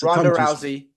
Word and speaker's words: Rousey: the fact that Ronda Ronda Rousey how you pronounce her name gez it's Rousey thank you wanted to emulate him um you